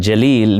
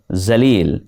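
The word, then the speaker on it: جلیل: Many people think that if it is Urdu, it must be with the sound Z, and they embarrass themselves by pronouncing the word or the name Javed as Zawed. Even more embarrassing is when the name Jalil, meaning majestic, is pronounced as Zalil, which means completely different.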